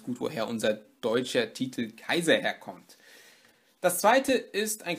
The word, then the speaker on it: Caesar: Ich werde aber in diesem Video versuchen, es mit Kikero durchzuziehen, genauso wie man ja auch nicht Caesar sagen sollte, sondern Kaiser. Da hört man eigentlich auch ganz gut, woher unser deutscher Titel Kaiser herkommt.